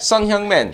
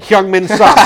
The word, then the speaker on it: Son Heung-min: Son Heung-min. Heung-min's son.